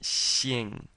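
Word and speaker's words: 姓: you're smiling while you're saying it Shing and it's Fourth tone so let's try that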